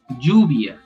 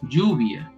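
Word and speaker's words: lluvia: in spanish you say juvia do you notice the pronunciation juvia so it sounds more like j instead of ye yes but that's the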